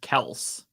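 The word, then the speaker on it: Kelce: Business Insider article citing Travis himself says the pronunciation is Kels.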